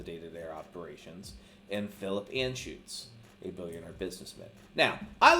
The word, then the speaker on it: Schutz: and it's pronounced and this this part is pronounced it shoots I Googled it and